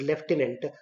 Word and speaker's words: lieutenant: pronounced as zenyu and l e u p e m a n t is lieutenant though we don't find f or p h r g letters in it and v-h-i-c-l-e is vehicle